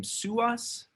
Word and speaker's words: Suhas: I want to go to, sorry if I mispronounced the name, Suhas, S-U-H-A-S.